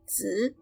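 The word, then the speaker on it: 子: from run to run z means child it will sounds like the end of buzz this is the neutral tone now but it's light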